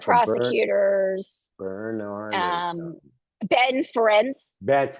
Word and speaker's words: Ferencz: no, no, there was Other like prosecutors, Bernard or um, Ben Ferenc. that's I, him. I I Yeah, may be yeah.